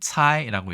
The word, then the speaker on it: 猜: 자, 중국에서는 차이라고 얘기합니다. 시라는 발음은 거의 보지 못했습니다.